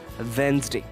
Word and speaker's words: Wednesday: this particular day in our week and we mispronounce it like redness t so it is not vet nurse named and it is Wednesday so what it is Wednesday so W e